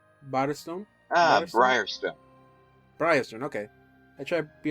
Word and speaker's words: Briarstone: Again, I don't know if I pronounced it correctly. It's BRIARSTONE. Barstone? Briarstone, okay.